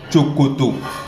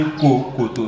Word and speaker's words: chokoto: We can find it in the word chokoto. This one we do not say kokoto, no. Chokoto, which means knicker or trouser.